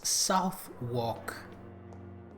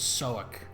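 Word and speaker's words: Southwark: I it really annoys me the pronunciation soak. It's southwalk but no it's soak.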